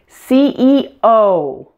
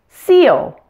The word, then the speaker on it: CEO: to say them correctly pronounce each letter completely with the most stress on the last letter like this CEO AT&T KFC I've heard so many non-native speakers say seal instead of CEO now